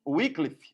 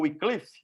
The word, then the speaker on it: Wycliffe: a gente vai ver, e antes dele, John Wycliffe, ou Wycliffe, dependendo da pronúncia, homens que foram inspirados pelo Espírito Santo para começar uma reforma de uma igreja que estava morrendo.